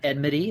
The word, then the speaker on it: Enmity: We've got Enmity, that is how you pronounce it, Leon, Monk, and Myth.